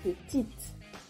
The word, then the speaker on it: petite: Por ejemplo, petit, forma masculina, no suena la T final, petit. Petite, añadimos una E y pronunciamos la T final, petite.